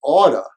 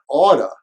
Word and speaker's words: ought to: to Central Park you ought to study idioms they'll make your conversations more colorful usually in everyday American English ought to is pronounced as Otto Otto Otto when you come to